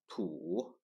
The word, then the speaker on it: 土: Its pronunciation is 土, 土, 土.